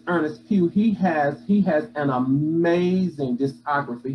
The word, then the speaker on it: Earnest Pugh: Right, but it's Earnest Pugh.